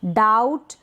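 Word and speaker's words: doubt: डाउट, डाउटफुल, यहाँ पर B pronounce नहीं हो रहा है।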